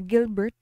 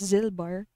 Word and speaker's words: Gilbert: you try to search in Google kids uh Gilbert is actually pronounced as zilbar I say I forgot what country first discovered